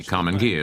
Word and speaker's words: Karmann Ghia: Naturally, Karmann Ghia is right. It's Italian. Over there, GH is pronounced as a hard G.